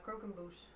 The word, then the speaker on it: croquembouche: Croquembouche.